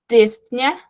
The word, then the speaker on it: dyspnea: So, dyspnea, a pronúncia é bem rápida, bem curtinha.